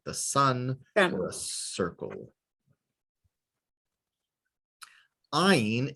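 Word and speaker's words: עין: Ayin is silent like talking with your eyes.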